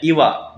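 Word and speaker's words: 岩: Nah, sehingga dibacanya iwa, batu besar.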